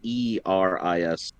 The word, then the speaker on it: Eris: I'm just gonna call him Ares, because Ares is also Greek. She's the goddess of chaos. Yeah, but that's Ares is spelled Eris.